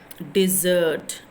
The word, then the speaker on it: desert: So the stressed word is not de. It's not de. So it is a wrong syllable. 2 syllables are there, but the word stress is wrong. So where you have to stress, S-E-R-T, desert. So longly you are prolonging, right? In this first point, longer in duration.